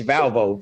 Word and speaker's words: Valvo: cannot pronounce her name it's valvo v-a-l-v-o okay thank you I'll